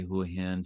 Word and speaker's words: Hua Hin: understand and learn the right way to say who a hint so whoahan originally around the 1900s was known